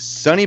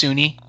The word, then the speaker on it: SUNY: is at Sunny Buffalo. Breaking down Breaking Bad. It's pronounced SUNY.